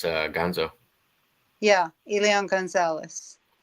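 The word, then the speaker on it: Elián: Perth says Elian, is that how it's pronounced? Elion, yeah.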